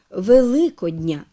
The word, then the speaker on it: Великодня: речі називний відмінок Великдень родовий відмінок Великодня саме з таким наголосом на другому складі прикметники з похідні від